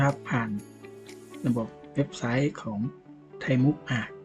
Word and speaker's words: ThaiMOOC: ผ่าน ระบบ เว็บไซต์ ของ ไทยมุก อ่า แก้ ไข ครับ อ่าน ว่า ไทยมุก นะ อ่าน ว่า ไทมุก เป็น โครง การ มหาวิทยาลัย ไซเบอร์